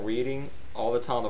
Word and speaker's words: Reading: I'm reading a book. No. Reading is a name, and it's pronounced that way. Reading, spelled the same, but the action or the verb, the adverb of it is pronounced reading.